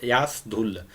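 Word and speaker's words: यश ढुल: तो एस धुल करके, एस धुल, आप जो है प्रोनाउंसिएशन पे थोड़ा ध्यान दीजिएगा, एस धुल, भाई ए एस यास धुल, ये जो है इन्हीं के कैप्टेंसी में जो है भारत ये जीता।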